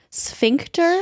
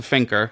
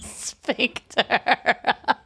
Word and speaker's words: sphincter: The first time I said, what's a finker? Because I thought you said finker. And I think sphincter now is something in your butt. Sphincter.